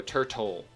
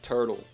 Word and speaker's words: turtle: Does anyone actually pronounce turtle like turtle? No, everyone goes turtle, which really sounds like you're putting a D there instead of a T.